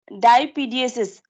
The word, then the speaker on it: diapedesis: White blood cell में एक capability होती है कि वो एक प्रोसेस करता है जिसको दैट इज टर्म्ड एज डाईपीडीएसिस. ठीक है, डाईपीडीएसिस.